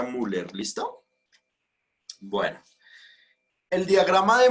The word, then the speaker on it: Müller: escribir en el chat así se escribe pero se pronuncia müller listo bueno el diagrama